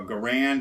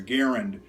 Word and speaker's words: Garand: Now I know that some people call it a Garand and some people call it a Garand, so I pronounce it both ways to try and placate both sides here.